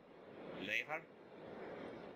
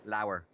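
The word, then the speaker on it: leabhar: Lever? Lower. Lower. Like, how does that even work?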